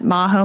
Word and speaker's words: Majo: it's my name at Maho my name is spelled with a J so it's m AJ o and then you'll find